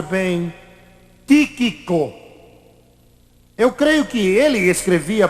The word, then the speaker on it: Tíquico: não sei pronunciar bem tiquico eu creio que ele escrevia para o apóstolo Paulo e era também ele que entregaria aquelas cartas tíquico ou tiquico como você preferir pronunciar seu nome pois bem Chegou então